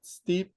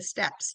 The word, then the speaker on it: Steppe: It's it's not steep consulting, it's step consulting.